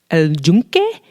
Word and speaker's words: El Yunque: El Yunque. It's like Yunque. El Yunque. Yeah, it's pronounced with like a J, even though it's a Yunque.